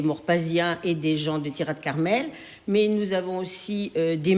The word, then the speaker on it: Tirat Carmel: Il y a un jumelage avec Tirat Carmel, si je prononce bien, c'est tout à fait ça.